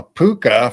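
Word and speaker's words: púca: A puka for us is spelled Pooka, and it's a 6-foot white rabbit that can be invisible, and it's mischief, and it has fun.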